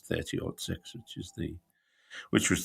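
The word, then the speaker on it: .30-06: 30 or 6 and i told her how to say which is 30 odd 6 which is the which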